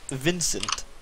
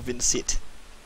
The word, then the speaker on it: Vincit: Latin dudes pronounced all the C's as K's, son.